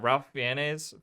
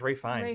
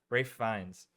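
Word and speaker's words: Ralph Fiennes: Which uh Ralph Fianz, is that how you say his name?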